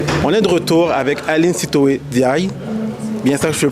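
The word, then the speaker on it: Aline Sitoé N'Diaye: On est de retour avec Aline Sitoé Diaye. Bien ça, je le prononce bien?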